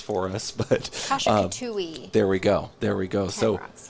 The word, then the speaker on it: Kasha-Katuwe: has a very specific name I'll let you pronounce for us. But Kasha-katuwe.